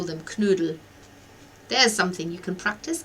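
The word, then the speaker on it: Knödel: you would do dumplings or they call them canoodle there's something you can practice can you say canoodle practice that because that's with a k n um loud o and it's pronounced pronounced canoodle it's it's such a German word oh got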